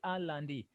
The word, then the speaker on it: lundi: Landi. Remember this one, Landi. The E is not silent. Letter I is not silent. The only Oh, okay. so we say Landi.